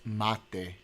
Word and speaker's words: mate: it's pronounced mate.